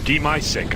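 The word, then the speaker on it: dimasick: CZ for Buster, and it will be Dimasic, I've been told it's pronounced.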